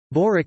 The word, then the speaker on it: Börek: Börek Turkish pronunciation, B-O-stroke-ek, also Börek and other variants, is